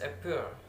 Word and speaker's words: appear: The first example that is appear. Appear. The word is appear. The stress that's in the second that is appear. Appear. That's in the seconds.